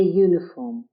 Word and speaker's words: uniform: is used examples a uniform the u is pronounced fully as you a unicorn the u